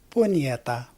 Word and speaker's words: Punyeta: It's pronounced, for the non-Filipinos out there, it's pronounced the same way as the Spanish version, which is, say it with me, Punyeta.